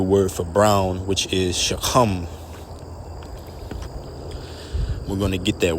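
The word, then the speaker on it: שחם: And this lesson is entitled Quick Hebrew Word, Brown or Shachaam.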